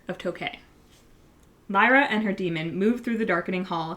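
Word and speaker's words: dæmon: So, that doesn't give too much away, but it does introduce the concept of the demon. Yes. Um, which is spelled D A E, but when the A and the E are like smooshed together.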